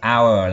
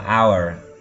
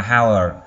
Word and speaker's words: hour: Chúng ta có từ hour là một tiếng đồng hồ, là một giờ. Các bạn đọc là hour. Cái âm, cái chữ H ở đầu nó là âm câm các bạn nhé.